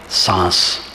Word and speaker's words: सांस: अभी अभी हमारे बचपन में सांस को चंद्रबिंदु से लिखा जाता था, सांस, क्योंकि सांस में आधा अनुस्वार का उच्चारण होता है, शांति में पूरा अनुस्वार और सांस में आधा अनुस्वार।